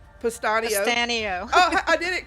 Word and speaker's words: Pustanio: We have my friend Alyne, and I always say your name wrong. Pustanio.